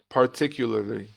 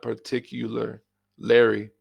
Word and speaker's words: particularly: are you today okay particularly particularly not particular Larry particularly particularly he in her